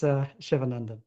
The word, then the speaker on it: Shivanandan: It's Shivanandan. That's how you pronounce it.